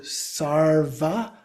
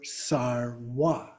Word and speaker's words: sarva: So then another one is an A, is a V that's often pronounced as a W. But some get changed even more. So sarva or sarwa. And we see people doing it in both of those ways.